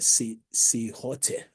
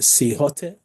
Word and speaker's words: silhouette: And those method is one is called a SILHOTE. Sometimes the pronunciation is SILHOUETTE.